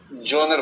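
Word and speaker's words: genre: इसलिए फ्रेंच भाषा में एक शब्द होता है, अंग्रेजी में जॉनर बोलते हैं। स्पेलिंग से आपको GEN दिख रहा है, लेकिन इसका उच्चारण जॉनर है, जॉनरेबल की बोलते हैं फ्रांस में।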